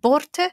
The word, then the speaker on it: Börte: First of all, do we say her name Börte? That's Börte. How I've been saying it. Yeah, absolutely, yeah.